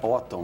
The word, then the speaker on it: Otton: Renata, eu disse Renata Otton, né, é a pronúncia correta, né, Renata? Otton. Otton mesmo? Otton mesmo.